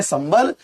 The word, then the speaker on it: संबल: तो आपने क्या देखा कि यहाँ पर अनुस्वार का उच्चारण मां के रूप में हो रहा है, जबकि यहाँ पर अनुस्वार का उच्चारण न के रूप में हो रहा है। इसको आप पढ़ रहे हैं संबल, इसको पढ़ रहे हैं संगम।